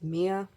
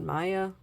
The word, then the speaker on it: Mia: Uh, her actual name is Mia, not Maya.